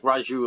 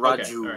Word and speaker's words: Raju: the J is it Raju all right you're I'm you thank you sorry guys yeah it's like Raju like a soft J not Raju it's not like yeah